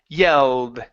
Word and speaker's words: yelled: Okay, bring it forward, more forward towards your teeth. Yelled. There you go. That's the sound. Okay, one more time. Yelled. Good. That's the position of the L in English. Okay, we don't want it back in the back. We want it forward in the mouth.